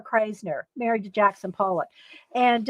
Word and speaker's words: Krasner: there's video interviews of her and um uh craisner lee kras krasner krasner married to jackson pollock and uh there's interviews